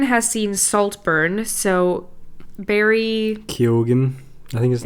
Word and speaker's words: Keoghan: Ewan has seen Saltburn, so Barry Keoghan, I think his name is.